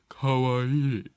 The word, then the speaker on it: kawaii: You don't say it like you're an And you have to, uppity... you have to have that kind of nasally kawaii.